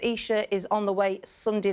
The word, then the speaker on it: Isha: Storm Isha, spelled Aisha, pronounced Isha, is on the way Sunday night, and we've got a lot of warnings to allow for that as well.